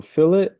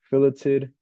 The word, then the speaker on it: fillet: a a fillet fillet fet is what you pronounce or how you pronounce it when you're talking about food pillet is how you pronounce it when you're talking about sketching so let's do a